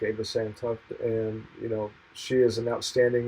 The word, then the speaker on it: Santhuff: I'm going to ask you, how do you pronounce your last name? It's Santhuff. Santhuff.